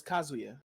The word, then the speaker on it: Kazuya: Okay, so it's Kazuya. Like that. Okay. Kazuya. So anime pronunciation, Kazuya. Okay, and so say it fast. Kazuya. Okay. Yeah, just Kazuya. The anime pronunciation.